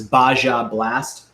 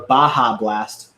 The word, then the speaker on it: Baja Blast: got some of this Basha blast or a baja blast as it's more properly pronounced by it's actually called